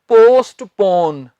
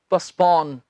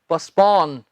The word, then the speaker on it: postpone: बहुत से स्टूडेंट्स इसे बोलते हैं पोस्टपोन। जी ये पोस्टपोन नहीं होता, इसका सही उच्चारण है पस्पॉन। टी इसमें हम नहीं बोलते, पोस्टपोन नहीं, क्या है, पस्पॉन, पस्पॉन।